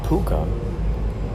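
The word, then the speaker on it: púca: A puka, and the way you can spell this is P-U-C-A.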